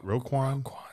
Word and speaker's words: Roquan: Roquan Smith.